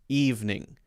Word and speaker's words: evening: Actually, when people say evening, they usually make that just evening. And so evening actually usually is a 2-syllable word.